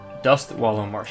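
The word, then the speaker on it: Dustwallow Marsh: Dust wallow marsh. I always say it wrong. I always say dusk with a K. It's dust with a T.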